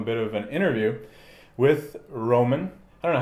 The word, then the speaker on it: Roman: I don't know, how do you say your name in English? Yeah, it's Roman. Roman. Same, yeah. Roman. Okay. Yeah, it's easy. I'm trying to just switch from Russian pronunciation.